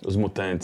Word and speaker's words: Os Mutantes: I'm a big I like Os Mutante. Is that how you say it? Os Mutantes.